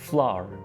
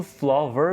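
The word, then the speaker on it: flour: यहाँ पे इसको फ्लोर नहीं बोलना, ठीक है, फ्लोर, फ्लोर। बिल्कुल फ्लावर भी नहीं करना, वो फिर दूसरा फूल वाला बन जाता है, तो इसकी हल्की सी डिफरेंट प्रोनाउंसिएशन है, फ्लोर, फ्लावर, ठीक हो गया।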